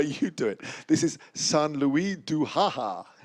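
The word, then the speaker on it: Saint-Louis-du-Ha! Ha!: So shall I pronounce this one the way you do it? This is San Luis du Haha. St. Louis de Haha.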